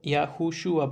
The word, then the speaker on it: Yahushua: La transcripción sería Yahushua. Yahushua para que su correcta pronunciación sería esta.